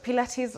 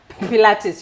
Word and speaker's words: Pilates: Some of us will appear how to pronounce it. Pilates. You said Pilates. it's not pirates, not Pilates. Okay. It's, Pilates.